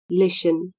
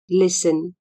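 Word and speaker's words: listen: अथवा ध्यान दिन लाई लिसन एल आई एस टी ई एन लिसन स्मा T silent L आई एस टी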